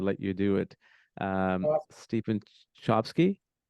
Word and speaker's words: Chbosky: I don't know how to pronounce his last name. I'd let you do it. Stephen Chbosky? Chbosky. Chbosky.